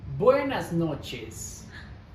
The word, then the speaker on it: buenas noches: Buenas noches.